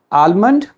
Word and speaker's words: almond: Look, if there is L, it is also silent. That is why you cannot say it like almond. Almond is wrong pronunciation. The correct one is almond because L is silent.